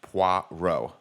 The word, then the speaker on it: Poirot: People are saying in the chat it's pronounced Poirot. Yeah, that's it. Is that correct? Poirot.